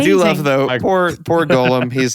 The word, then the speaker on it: Golem: just golum Golem gol the correct pronunciation is Golem for that word but Taylor misinterprets it as Gollum which I just love